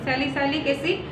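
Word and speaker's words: salicylic acid: আর 2 নম্বরটা হচ্ছে স্যালিসাইলিক অ্যাসিড, উচ্চারণটা বলে দিচ্ছি, স্যালিসাইলিক অ্যাসিড plus benzoic অ্যাসিড।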